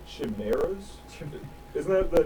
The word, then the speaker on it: chimera: Aren't they called chimeras?